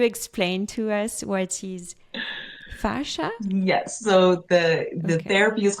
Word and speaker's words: fascia: were doing, and tell me if I don't pronounce it correctly, fascia. Fascia, yes.